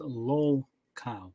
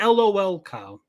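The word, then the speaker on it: lolcow: Just so everyone's clear, it's pronounced low-cow, not LOL-cow, low-cow.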